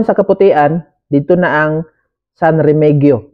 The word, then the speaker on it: San Remegio: kaputian dito na ang San remegio sa magpronounce an pero ingon dito san remegio daw San remegio cove Beach